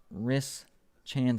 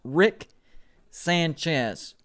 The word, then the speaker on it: Rick Sanchez: okay yeah we're good i can't say that name right quick i say like ris chan says i think it's what i try to say it's rick sanchez that is the correct way to say that am going once going